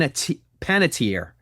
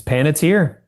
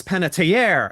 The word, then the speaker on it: Panatier: Is it Paniter or Pan? Paniter. It's Paniter. Paniter. Clay Mloud Chapman that he's pronouncing your name wrong cuz I talked to him last week and I said I was going to talk to you and he's like, "Oh, Panier."